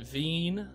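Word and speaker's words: Wiene: Robert Veen. I always forget that the W's are pronounced as V's in German.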